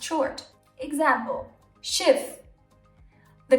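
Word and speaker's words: Schiff: be pronounced short example shift the consonant is double so the E becomes short it's not shiv it's shift because there's two F's if however the consonant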